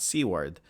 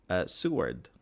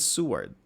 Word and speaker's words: Seward: Oh, there we go. Not Seaward. Seward. All right. Iceland Seward.